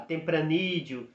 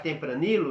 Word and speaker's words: Tempranillo: A Carmener, a Malbec, a Merlot, a Tempranillo. Se você pronunciar Tempranillo, não tem problema, vão entender. Mas tenta pronunciar Tempranillo, tá?